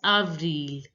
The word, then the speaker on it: avril: again Mass a glass April is pronounced as Avril Avril every now listen to the pronunciation of the Native French speaker avrila again Avril again avrila May is